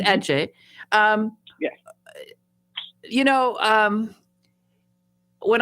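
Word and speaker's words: Adze: adje uh which is spelled a d z e but pronounced Edge um you know um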